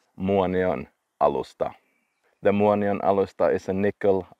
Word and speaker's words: Muonionalusta: It is a Finnish name, and for me it's easy to pronounce, but some people say it's the hardest name in the world to pronounce. Muonionalusta.